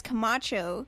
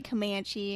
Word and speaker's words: Camacho: first name middle name my last name is Camacho okay but some people will just mispronounce it and say Comanche and comedian Marcy Grace